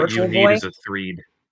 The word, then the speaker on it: Threed: Before you keep going, I just want you to know it's pronounced Threed. Threed? Oh, like in Earthbound, like the town Threed in Earthbound.